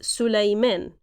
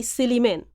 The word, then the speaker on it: سليمان: Actually, the name is Sulaiman in proper Arabic, in Fusha Arabic, but in Egyptian we say Siliman.